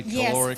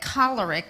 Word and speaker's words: choleric: Can we learn to pronounce that right? Because people say caloric. Yes, Florence Littauer would not certify us to work for her or with her until we said choleric instead of choleric.